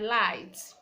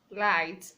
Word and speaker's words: light: We have words like light, light, the G is silent.